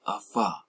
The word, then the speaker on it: Ephod: They say pronounced Ephod, right?